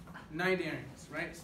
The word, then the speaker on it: Cnidaria: attention all those things so start off with 90s ranks but with the sea but don't pronounce the sea these are not games right